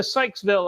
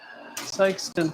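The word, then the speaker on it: Sikeston: right small town in missouri how close to sykesville are ya did i say it wrong sexton sykeston sykeston how close to sykesten are you we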